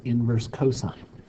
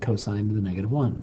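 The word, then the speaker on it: cos⁻¹: You pronounce this inverse cosine. You don't pronounce it cosine to the -1.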